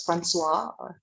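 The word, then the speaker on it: François: The OI in French is pronounced as like with a W. So like Francois, it's spelled Francois, but we pronounce it as Francois.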